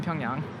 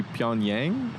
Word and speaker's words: Pyongyang: yeah i mean yeah the way that it's written in english the last syllable y-a-n-g yang in korean it's young wondering how many